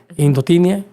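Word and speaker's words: indotineae: Ahora, de acuerdo a los agentes etiológicos, hay un agente etiológico bien raro que se llama tricofiton indoteniae, indotinia, que también la última e no se pronuncia.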